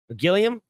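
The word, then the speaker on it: Gilliam: uh gillium a movie gillium pretty sure that's how you say it Time Bandits it's now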